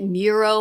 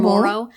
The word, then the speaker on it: Morrow: for people to pronounce I get Muro a lot for Morrow even though Morrow seems perfectly comprehensible to me but people have trouble with it and my maiden name